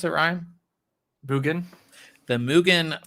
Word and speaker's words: Mugen: How do you pronounce it, Ryan? Mugen.